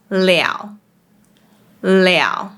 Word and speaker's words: 了: For instance, “了 le” is often pronounced as “liao3” For example, 我找到了 (I found it) becomes 我找到了